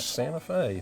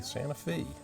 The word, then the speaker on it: Santa Fe: Not Santa Fe, Santa Fe. Ah, geez. I guess the locals just call it Santa Fe. They do, which according to the locals is the correct pronunciation.